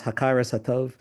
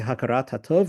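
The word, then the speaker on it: הכרת הטוב: principle of Judaism is, he says, Hakaras Hatov, in more contemporary Israeli pronunciation, we might say Hakarat Hatov, recognizing that which is good, recognizing benefits afforded us and giving expression to our appreciation.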